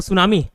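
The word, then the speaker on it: tsunami: जैसे सुनामी का स्पेलिंग क्या होता है, टी होता है, नहीं टी से स्टार्ट होता है, टी, लेकिन टी क्या होता है, साइलेंट होता है। किसी को मालूम क्यों ऐसा लगते हैं, टी लगने की क्या जरूरत, मालूम किसी को, नहीं मालूम, मेरे को भी नहीं मालूम, ठीक है, टेंशन नहीं लेना, ठीक है। तो सुनामी टी साइलेंट रहता है, बस वैसे ही आवर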